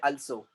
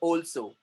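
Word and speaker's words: also: Next one ऑल्सो, अच्छे अच्छे मैंने लोगों को देखा वो बोलते हैं अल्सो, अल्सो नहीं बल्कि वो है ऑल्सो।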